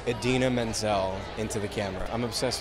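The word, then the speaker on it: Idina Menzel: Adina singing and so I'm really excited to pronounce her name correctly knock on wood but yeah I'm really excited to say Edina Menzel into the camera I'm obsessed with you jackrin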